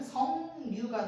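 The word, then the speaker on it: 석류: 그래서 또 다시 한번 신경 두근두근하면서 비유만 일으켜서 최종 발음은 성류가 될 겁니다. 성류 되게 발음이 어색해요. 근데 이게 맞는 발음인 거지.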